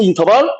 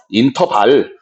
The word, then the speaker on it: interval: 인터발. 발. 응? 저번 시간에 지랄 나오더니, 제네럴 나오더니 오늘 인터발 나오네. 그치? 발음 중요해. interval. B 발음. R 발음, B 발음. interval.